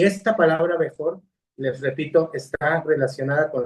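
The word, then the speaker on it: בכור: La palabra, la palabra pronunciada Bejor, fíjense, Bejor, luego lo vamos a ver en las clases de hebreo que ya tienen, primeramente el Eterno.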